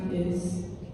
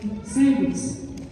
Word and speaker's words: sanguis: SANGUIS. Can anybody pronounce that? Sangus? S-A-N. SANGUIS. Somebody say it out loud. Sanguis. This is a Latin term that means blood or the blood.